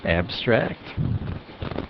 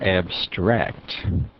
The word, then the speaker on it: abstract: Abstract. Verb form is abstract. See the double R shows that stress is on the second syllable again. Seems like the verb form tends to stress the second syllable. And this is abstract as a noun or adjective.